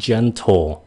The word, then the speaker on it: gentle: Làm như ví dụ cái chữ gentle, hai cái âm này phát âm giống nhau, nó là âm j, rất là nhẹ, j, đừng có ch. Nếu các bạn mà phun hơi ra ch là sai.